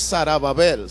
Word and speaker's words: Zorobabel: a hablar de zorobabel diga conmigo zorobabel la pronunciación correcta es sarabel sarab Babel es era